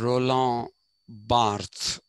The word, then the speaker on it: Barthes: has heard of them cloud levy strauss and roland barthe that's how it is pronounced cloud levy strauss and roland barthes what we'll first pick up cloud levystraws so